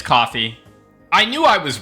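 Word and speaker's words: Ko-fi: Yes, the website/service Kofi is pronounced coffee in the same way you would say coffee. The name is a friend. Thank you AI by the way. Okay. Yeah, it's coffee.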